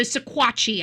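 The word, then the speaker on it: Sequatchie: So siquatchi I think is the proper pronunciation.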